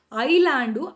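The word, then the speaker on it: island: ಅವರು ಕರೆಕ್ಷನ್ ಮಾಡ್ಕೊಳ್ಳಕ್ಕೆ ಹೋಗಿಲ್ಲ so that's the reason ಏನಾಗಿದೆ ಐಲ್ಯಾಂಡ್ ಐಸ್ಲ್ಯಾಂಡ್ ಅನ್ನ ನಾವು ಐಲ್ಯಾಂಡ್ ಅಂತ ಓದೋದು ಅವರು ಮಿಸ್ಟೇಕ್ ಮಾಡಿ ಹಾಕಿರುವ ಹೆಸರನ್ನ ನಾವು ಅದನ್ನ ಸೈಲೆಂಟ್ ಮಾಡ್ತೀವಿ ಆ ಕಾರಣಕ್ಕೆ ಐಲ್ಯಾಂಡ್ ಐಸ್ಲ್ಯಾಂಡ್ ಶಬ್ದ ಐಲ್ಯಾಂಡ್ ಅಂತ ಹೇಳಿ ನಾವು ಉಚ್ಚಾರ ಮಾಡ್ತೀವಿ ಓಕೆ ನಾ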